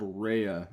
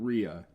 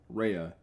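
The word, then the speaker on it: Rhea: just to confirm they do say it's called rehea Island not Ria rehea cuz the reason why I was saying it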